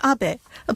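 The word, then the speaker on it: Abe: over to the White House my name is Abbot a but in the United States some people mistakenly pronounce my name is ape but that is not bad because even in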